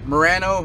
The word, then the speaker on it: Murano: in a 2010 Nissan Murano or Murano however you want to pronounce it it's got the 3.5